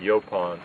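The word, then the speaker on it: yaupon: u p o n some people pronounce it yopon y a u p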